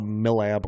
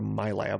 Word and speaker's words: MILAB: So I think it was being tested for school, but she really thought that I was a MILAB or a MyLab. I've seen them pronounced both ways at one point, and something happened, or they tested me for something.